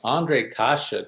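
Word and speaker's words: Ondřej Kaše: Look at you nailing Ondrej Kase twice. That's a guy who's done some homework on the NHL pronunciation guide, folks, because that's one of the most mispronounced names that I hear on broadcasts regularly. And my partner just nailed it.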